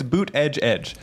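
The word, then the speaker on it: Buttigieg: you'll get kicked up Twitter for saying this Buddha judge that's actually the right it's boot edge edge Buddha judge yeah yeah it's pronounced Pete kicked off Twitter for saying for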